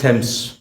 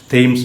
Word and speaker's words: Thames: നിങ്ങളെല്ലാവരും കേട്ടിട്ടുണ്ടാവും river തെംസ്. THAMES എന്നാണ് സ്പെല്ലിംഗ് എങ്കിലും അത് പറയുമ്പോൾ തെംസ് എന്നാണ് പറയുക. റിവർ തെംസ്, തെയിംസ് അല്ല, തെംസ്. ഈ മദ്രാസിൽ കൂവം ഉള്ള മാതിരി ഒരു പുഴയാണ് റിവർ തെംസ്.